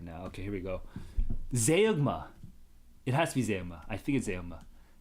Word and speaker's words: zeugma: I like the zeugma pronunciation better, but if it's zeugma, it's zeugma.